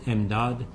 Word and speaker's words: MD Aid: In Farsi could be pronounced as MDAD, which means assistance, to identify and assist